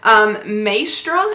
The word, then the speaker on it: Maestra: So this is the handbag that I chose to get, and I'm probably going to mispronounce the name. It is Mini. I can say Mini. Maestra, M-A-E-S-T-R-A.